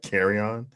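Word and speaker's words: Kerryon: And you add Carry-On to that. How do you pronounce the name? Carry-On? Carry-On Johnson, yeah. Carry on. You're going to carry on with Carry-On. Yes, he is.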